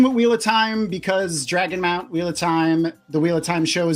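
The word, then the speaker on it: Dragonmount: Here's Tom's info for Dragon Moon. It's not just me. There's a lot of people on Dragon. How do you pronounce it? Dragon Mount. Like I want you to mount me.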